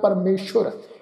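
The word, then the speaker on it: ਪਰਮੇਸੁਰ: ये जिहड़ा शब्द है जी परमेश्वर, सस्से दे पैर विच बिंदी लगा के औंकड़ सहित उच्चारण करांगे परमेश्वर।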